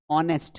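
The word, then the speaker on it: honest: अगर एच के बाद अगर कोई वोवेल साउंड आ रहा है। एच के बाद अगर कोई वोवेल साउंड आ रहा है तो वो अक्सर सा वो साइलेंट हो जाता है। जैसे ऑनेस्ट बचपन से ही हम सीखते आ रहे हैं।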